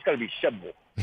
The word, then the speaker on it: Shelbyville: on it man okay you've got too many syllables in there you say shelbyville that's one too many that's three it's got to be shabble it's like two points one more time let